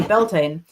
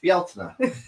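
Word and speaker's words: Beltane: T A N E Beltain. And it turns out that the correct way to pronounce Beltain is in fact Bela. There's so many more vowels there.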